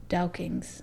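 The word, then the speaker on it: douking: dukings or duckings dukings it's it's like this the scottish pronunciation it's d-o-u-k-i-n-g dow kings okay i don't know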